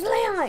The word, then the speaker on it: Leon: You might have It's Leon.